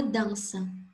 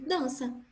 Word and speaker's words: dança: Então, se tirar a letra N e deixar só dança com o tio no A, não vai mudar o som da palavra. O som da palavra vai ser o mesmo, dança. Sem N e com tio no A. Então, o fonema é AN.